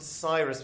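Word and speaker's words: Psyrus: what's it called pus it was called Cyrus with a silent P at the beginning of it um we did not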